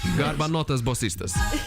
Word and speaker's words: Garbanotas Bosistas: But how is it with your band, the Garbanotas Bosistas, pronouncing correctly? I guess. Almost You're training. like Garbanotas. Garbanotas. Yeah. Garbanotas Bosistas, like that.